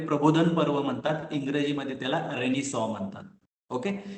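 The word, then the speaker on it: Renaissance: So world हिस्ट्रीमध्ये एक period आहे ज्याला मराठीमध्ये प्रबोधन पर्व म्हणतात, इंग्रजीमध्ये त्याला रेनिसॉ म्हणतात. ओके, त्याचं स्पेलिंग रिनायसन्स अशा प्रकारचा आहे, त्याचा उच्चार रेनिसॉ आहे, ज्याला मराठीमध्ये आपण समाज प्रबोधन किंवा प्रबोधन पर्व असं म्हटलं जातं.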